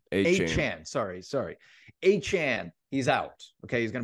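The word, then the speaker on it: Achane: How do you pronounce his name? Achan. Sorry. Achan.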